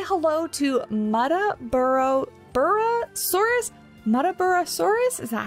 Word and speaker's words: Muttaburrasaurus: In Jurassic World Evolution 2, I was actually calling this the Nuttaburrasaurus, or Nutter Butter, like the candy bar. But anyway, Muttaburrasaurus, I think is how you say that one.